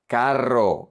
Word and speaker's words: carro: Then we have the double R, the nightmare for every Spanish student. Carro, you roll your tongue.